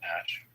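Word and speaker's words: Æ: And then the AE is pronounced Ash.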